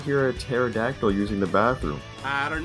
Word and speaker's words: pterodactyl: you not hear a pterodactyl using the bathroom I don't know why because the p is silent you are so happy